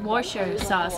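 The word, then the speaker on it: Worcestershire: on it no james it's not being pronounced the way it's being spelt it says wordchestershire yeah but you really call it washer sauce or something like that ask brett so let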